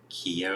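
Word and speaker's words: Kyo: we did figure out his name it's keo keo that's how you pronounce it and yeah we also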